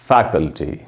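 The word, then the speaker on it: faculty: में लिख दिया मैंने, फै में जो ए है वहीं पर ज़्यादा रुकना है थोड़ा, और हम बोलेंगे फैकल्टी।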